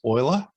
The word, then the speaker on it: Euler: Along with two down here, two friends, Euler, spelt Euler but pronounced Euler, and Hamilton.